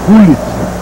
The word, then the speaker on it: Gullit: Aliás, segundo um holandês que eu conheci recentemente em viagem ao exterior, a pronúncia é Gullit. Gullit, então vamos escrever Gullit. Sai de dentro da garganta.